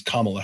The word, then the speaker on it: Kamala: Kamala Harris I had I've gotta remember that that's how her name is pronounced cuz that's how she says her own name is Camilla Harris okay if you're not